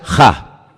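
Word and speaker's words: ה: Se pronuncia Ja.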